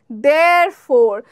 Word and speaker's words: therefore: উচ্চারণ কিরকম হবে, দেয়ারফোর, ফো। ঠিক আছে, আরটা একটু দেয়ারফোরতে গিয়ে আমরা আটকে যাব, ইটাকে আমরা গিলে ফেলবো, ইটাকে বলবো না, কি বলবো, দেয়ারফোর, দেয়ারফোর।